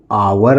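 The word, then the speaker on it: our: इसको हम पढ़ेंगे आवर।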